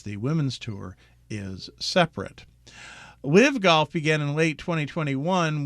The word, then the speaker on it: LIV: starting with its name which when pronounced rhymes with give live but is actually the